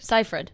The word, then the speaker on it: Seyfried: Seifert. And I was like, no. it's Seifert. It's Seifert. I said it right this Yeah, whole yeah, no, time. you're right. I'm feeling good. Seifert.